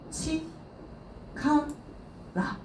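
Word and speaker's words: 力: 힘, 치, 카, 라 라고 읽으시면 되겠죠.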